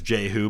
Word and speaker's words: Jehu: According to the Bible, Hazael of Aram-Damascus was followed by his son Ben-Hadad And we pronounce it as Jehu, but it probably was Yehu, just like we say Jehovah, which is just the translation of Yahweh, which was the Hebrew.